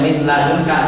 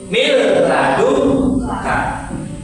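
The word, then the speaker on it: مِن لَّدُنكَ: Contohnya ini bacanya min ladun ka salah. Yang betul miladun ka.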